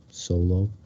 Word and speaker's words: Solo: And I remembered to get the pronunciation of Aaron's last name, Solo.